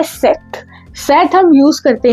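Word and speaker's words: cette: Then है सेट सी E double T ई इसको भी हम सेट प्रोनाउंस करते हैं और इसको भी हम सेट ही प्रोनाउंस करते हैं। ठीक है? दोनों का प्रोनाउंसिएशन सेम ही है।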